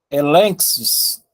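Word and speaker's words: ἔλεγξις: Elenxis. Exatamente. Elenxis. Observem aqui, pessoal, ó. Na palavra encrátea, o primeiro N, o primeiro gama se tornou N. Na palavra elenxis, a mesma coisa, se tornou N, o primeiro gama, ok?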